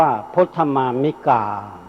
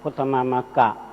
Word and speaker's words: พุทธมามกะ: จะ แยก เป็น 2 พุทธมามกะ ฝ่าย ชาย พุทธมามิกา ฝ่าย หญิง เพราะ ฉะนั้น ไม่ ควร ออก เสียง ว่า พุทธมามก ดัง ที่ เอ่อ ได้ กล่าว ไป แล้ว ว่า เป็น คำ ที่ ไม่ ไพเราะ อื อื พุทธม่า นับ